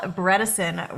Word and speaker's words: Bredesen: man I have Dr Dale breson with us rhymes with medicine but we have a